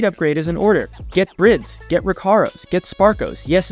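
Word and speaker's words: Bride: Get Brids, get Recaros, get Sparkos. Yes, it's pronounced Brids.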